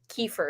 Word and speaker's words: kefir: really good for you I bought raw kefir but I was pronouncing it incorrectly and I oh no I think it's kind I'm still singing correct I just called it kaifer I don't remember I think I called it yeah it can't be